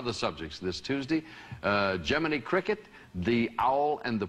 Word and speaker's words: Gemini: to fire I am told to correct my pronuncially pronunciation of Gemini it's Gemini as in whatever you know I was going for Jiminy and I guess it's Gemini you don't want that